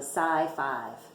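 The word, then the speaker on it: Psi Five: they started calling themselves the Sai five which rhymes with high five anytime they passed each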